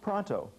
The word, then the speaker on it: pronto: Pronto. They pronounce it pronto. We say pronto.